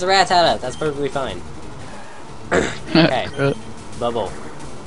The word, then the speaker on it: Rattata: I feel like I pronounced that oddly. Rattata. You kinda like emphasize the rat.